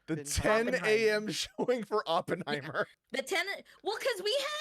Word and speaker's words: Oppenheimer: the 10 o'clock showing for upon I keep pronouncing it wrong the 10 a.m showing for Oppenheimer the tenant well because we had we we